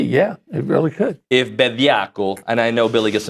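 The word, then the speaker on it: Bediako: Anyway, the Bediaco situation. Yeah. How do you say it? Bediaco.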